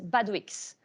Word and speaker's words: Badouix: and my last name yes you pronounce every letter of my last name so people are always confused so my last name is bad weeks so like Asterix tweaks